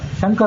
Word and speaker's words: ಶಂಕರ: ಉಚ್ಚಾರದಲ್ಲಿ ಅಷ್ಟು ಸ್ಪಷ್ಟತೆ ಇರೋದಿಲ್ಲ ಈಗ ಶ ಮತ್ತು ಷ ಶಂಕರ ಅನ್ನುವಲ್ಲಿ ತಾಲ ಶಕಾರವನ್ನು ಉಪಯೋಗ ಮಾಡ್ತೇವೆ ಆ ಶೇ ಷಣ್ಮುಖ ಅನ್ನುವಲ್ಲಿ